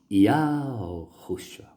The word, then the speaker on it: Yahushua: Aí você diz, Yahushua. Essa é a pronúncia. I-A-O-R-R-U-S-H-U. Yahushua.